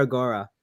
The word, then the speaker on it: Agoora: because I always like to know names Amir agar yeah agar well I got that one right then okay Amir agar I just got the first one wrong Amir